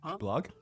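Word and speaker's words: Bullog: Blog. It's spelled B U L L O G.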